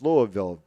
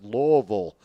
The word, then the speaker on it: Louisville: number 24 louisville at people say it's louisville no it's louisville if you're from the midwest and you're from that part that part of the country you know how to pronounce it people say well what's